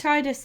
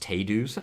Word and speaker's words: Tidus: like tidy us please I said Titus before until you told me about the mythology thing and then and then I was okay calling him Titus it's actually pronounced tedu's I go giant by